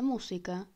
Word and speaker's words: música: So, if we take the word "música" (music) we see that it has an accent mark on the third syllable from back to front.